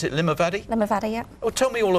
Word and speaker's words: Limavady: Because you're from, did you pronounce it Limavady? Limavady, yeah.